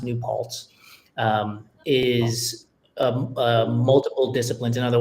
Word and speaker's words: New Paltz: And I think the SOS triathlon, and it's pronounced New Paltz, is multiple disciplines.